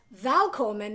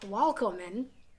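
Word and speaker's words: Välkommen: Sorry, I'm a Latin teacher and we don't pronounce the V's. And I find that when I try to pronounce V's in other languages, I'll pronounce it with it should be in Latin, and I don't think that's right. So it's Valkommen, not Walkommen, as I would say it in Latin.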